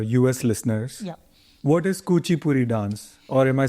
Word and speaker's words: Kuchipudi: What is Kuchipudi dance? Or am I saying it right? Kuchipudi.